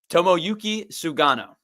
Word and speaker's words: Tomoyuki Sugano: Tommoyuki Sugano. Good job. Baseball reference is a big help. I I write everything out phonetically.